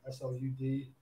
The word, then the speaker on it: Slud: But yeah, it's pronounced Slud, S-L-U-D. A lot of people say Slud. I mean, that works too.